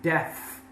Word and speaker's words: deaf: They are deaf, which is kind of strange because it's similar to death, which is mortal, but this has a different pronunciation, deaf, with an F at the end.